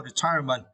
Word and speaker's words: retirement: And in now, retirement. And for this word, you need to stress the second syllable.